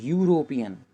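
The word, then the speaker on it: European: देखिए यहाँ पे जो दिया हुआ है वर्ड यूरोपियन, इसका स्टार्टिंग तो वॉवेल से है, लेकिन जब इसको हम प्रोनाउंस करते हैं तो यू से बोलते हैं, यूरोपियन, इसलिए यहाँ पे एन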